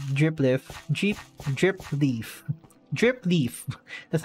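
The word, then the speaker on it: dripleaf: is the normal drip lift jeep drip leaf drip leaf that's how you say it okay oh my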